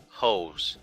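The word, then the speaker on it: heaux: single debut these h e a u x hoes that's that's how they're pronouncing it because that was another phrase that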